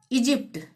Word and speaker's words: Egypt: GYM, जी के बाद वाई, तो यहाँ पे भी ज का उच्चारण होगा, जिम। इजिप्ट, EGYPT, इजिप्ट।